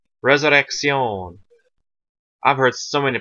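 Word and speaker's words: Resurrección: i c c c it's like you're pronouncing a k and an s in literal a double like so like a half two half syllables in one C Resurrection I've heard so many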